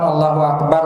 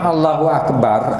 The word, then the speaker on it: Allahu Akbar: hurufhuruf-huruf ucapan Allahu akbar agar diucapkan dengan damah khfifah KH Allahu Akbar bukan Allahu Allahu Hunya terlalu ini kan monyong atau apa gitu kan santai jaringan Allahu Akbar tapi Hunya jangan sampai bercampur dengan a sehingga terucap Allahu Akbar